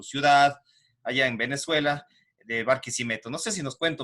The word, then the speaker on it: Barquisimeto: Yo estaba averiguando algunos datos de su ciudad, que es Barquisimeto, así se pronuncia.